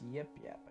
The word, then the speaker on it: Yip Yap: That guy's name wrong. It's Yip Yap.